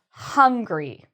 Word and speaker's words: hungry: Now, for the word hungry, you really need that sound, that H sound.